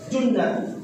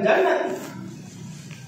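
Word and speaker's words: جُنَّة: Baik di Junnat, bukan Jannat. Bacanya bukan Jannat, Junnat.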